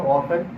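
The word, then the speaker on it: often: कभी कभी T silent भी होता है, टी साइलेंट के लिए लिखेंगे ऑफन और सॉफन और बॉसन। ठीक है, टी नहीं पढ़ रहा है।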